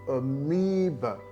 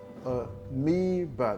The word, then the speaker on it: amoeba: The first A and the last A are not pronounced as A, but as a schwa sound, which is a lesson for another video.